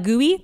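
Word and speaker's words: GUI: I should mention that some black gooey, honey. Oh, some black gooey? Yeah. Oh, it's spelled G-U-I.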